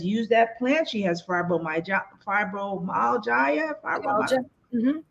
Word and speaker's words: fibromyalgia: She has fibromyalgia.